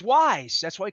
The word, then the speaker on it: Weis: And even when I called them Weiss, I didn't even know how to pronounce it. But it's Wise.